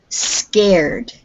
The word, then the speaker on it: scared: So that word scared, say scared. Scared. Yes. Okay, so we don't have ed on the end. It's just a d.